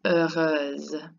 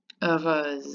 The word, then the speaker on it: heureuse: So the first one is pronounced heureux, heureux, and the second one is heureuse, heureuse. It's like a long Z.